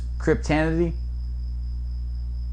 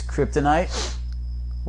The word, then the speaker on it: kryptonite: ultra humanity theory i have no time telling pronunciation it's the humanity human night humanity really so it's cryptanity no dummy it's kryptonite well that's been well established and it said